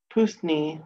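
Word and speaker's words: puisne: But sixthly, His Honor said, in all these cases, it must be intended that the pusni mortgagee, that means the young man, we're gonna look it up.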